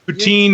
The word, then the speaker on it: poutine: Now, I'm still calling it poutine. Am I still saying it right or wrong? Yeah. Poutine is the English way. Okay. Poutine is the French way, and apparently the correct way.